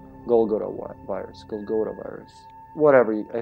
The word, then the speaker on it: Golgotha: is short for golgotha golgotha right that's how you say it in english golgotha virus golgotha virus whatever